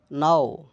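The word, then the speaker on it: gnaw: নোম বামন বা ছোট দেহের কাল্পনিক প্রাণী, নাও দাঁত দিয়ে কাটা বা চিবানো। এখানে দেখুন কে আর জি, এই কে এন অথবা জি এন থাকলে এই কে এর উচ্চারণ এবং জি এর উচ্চারণ হয় না।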